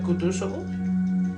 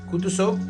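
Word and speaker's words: Kutúzov: príncipe dijo Ana Pamplona el general kutuso repuso pronunciando la última sílaba so como un francés quitándose el guante de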